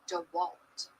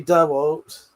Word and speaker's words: DeWalt: It's DeWalt. It's Dewalt. Dewalt. Dewalt. Dewalt. Bunny. And I love you. You walked fatty and I love you. You're great. Dwalt. It's not bloody Dwalt. off, P. It's not Dwalt.